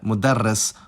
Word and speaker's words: مدرّس: about consonants is that Arabic has phonemic consonant gemination, which is when a consonant is held for a longer time. This can happen either in the middle of the word as part of a morphological pattern, like in mudarris, or at the end